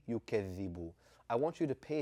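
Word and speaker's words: يكذب: A lot of us have grown up saying allazi, yukazzibu. And what is it that differentiates that from saying alladhi and yukazzibu?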